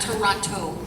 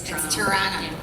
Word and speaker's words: Toronto: of Toronto Tor T say it like a real Canadian not Toronto it's Toronto um and yeah that's